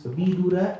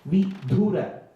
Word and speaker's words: Vidura: See, in Sanskrit, you have to be very careful with the pronunciation. It is Vidura and not Vidura.